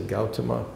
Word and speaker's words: Gautama: This guy's name, as best we know, is Siddhartha Gautama. I usually pronounce it Gautama, but some people who know this better than I say Gautama.